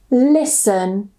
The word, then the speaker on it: listen: So the first rule normally if we have the ending s t e n we normally normally don't pronounce the t. So we just pronounce it son. For example fasten or fasten glisten listen moisten.